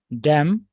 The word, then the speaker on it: damn: it's not that another another word where we have the silence 10 apart from column yeah damn yes damn very good how about